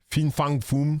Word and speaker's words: Fin Fang Foom: en testant ce deck Fin Fang Fum ? C'est comme ça que ça se prononce.